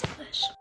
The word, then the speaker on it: Salish: Oh, also, by the way, when you said my name, you said it with a question mark, but thank you for pronouncing it right. You're right, it is Salish.